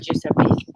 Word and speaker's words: Giuseppe: So, for example, the letter J is pronounced like the letter G. And the best example I can give you, Esther, is Giuseppe. See? In English, it would be with a J, okay?